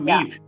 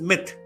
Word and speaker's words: myth: It's not meat. That is where I was confused. Pronunciation. See how much difference it can make. So there is no word like meat. It is myth.